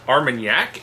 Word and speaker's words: Armagnac: how to pronounce it how is it pronounced Armagnac it is not our mag neck like a car my neck yeah pretty sure pretty shirt looks like our man yeah and in Jack Jack's what it looks like it